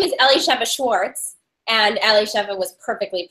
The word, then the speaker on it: Elishiva: Her name is Elishiva. 1 to 10. How did I do on the name? That was perfect. So my full name is Elishivas Schwartz, and Elishiva was perfectly pronounced.